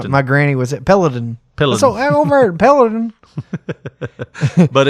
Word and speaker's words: Peloton: Petlinton? Pelianton? How do you say Peloton? Peloton. You're saying it wrong so many times. I'm not even going to know if I know how to say it. Palladian. Peloton. There you go. You got it.